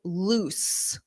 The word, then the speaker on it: loose: So loose. Notice that double O in the spelling. Oos, oos, loose. So that means something is not tight fitting.